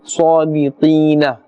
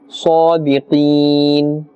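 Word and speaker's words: صادقين: In this example, we are not saying sadiqina. As you can see, the circular symbol, it means that's a waqf, that's a stop, and therefore we are pronouncing in this manner, sadiqeen.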